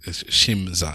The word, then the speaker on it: Shimza: It's Shimza. Anyway, that's how it's written. It's spelled how it sounds.